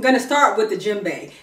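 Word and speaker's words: djembe: West Africa I'm going to start with the jimbe jimbe is spelled DJ e m b e jimbe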